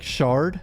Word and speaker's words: Schardt: Apparently you pronounce Schardt like shard, I think. So I've been messing that up for the whole trial.